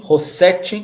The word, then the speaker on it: Rossete: Rossete, como você prefere que como é o seu nome? Como se fala o seu sobrenome? Rossete. Rossete. Ótimo. Até porque tem dois S, dois Ts.